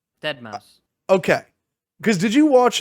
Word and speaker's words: deadmau5: How do you say it? Dead Mouse.